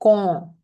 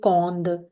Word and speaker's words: quand: We pronounce it like con, and do not pronounce it cond or quand. No, it is con.